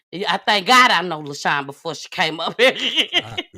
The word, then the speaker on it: LaCiann: Her name is LaCiann. And no, it's not spelled LASHWAN, baby. It is not. It's spelled LACIANN.